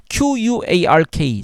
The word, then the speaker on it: quark: 날카로운 물리학자들은 QUARK, 즉 쿼크를 LARK가 아니라 STORK처럼 발음한다.